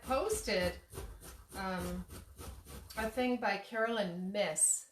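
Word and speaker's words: Myss: And I had posted a thing by Carolyn Miss. It's M-Y-S-S. Some people pronounce it Mace.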